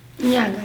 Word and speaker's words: Inyanga: Inyanga, yeah. Inyanga. How do you spell that?